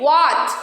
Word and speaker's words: what: be silent after W so where what where why when what in these words also H will be silent why because it is coming after W children now it's going